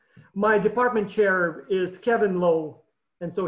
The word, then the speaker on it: Lowe: department chair is kevin lowe and so he pronounces his name low but um as someone who lived in germany for many years i know it's a german name love which means line right so uh so